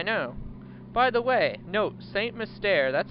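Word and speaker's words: St. Mystere: By the way, note, Saint Mystere, that's how it's pronounced.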